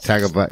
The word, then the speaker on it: Tagovailoa: I never pronounce his last name right. Tagovailoa.